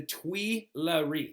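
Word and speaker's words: Tuileries: Palace now right and this Palace at the time was called the twe right twe is spelled Tui l r r i s I'll say it again Tui l e r r i s the twe right like the twery Palace of course it's as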